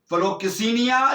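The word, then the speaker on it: philoxenia: फिलोकिसेनिया। और यहां इसके स्पेलिंग में आपको बताता हूं, PHILO फिलो, और आगे क्या है? XENIA किसिनिया, फिलोकिसिनिया। 5381 नंबर का लफ्ज फिलोकिसिनिया।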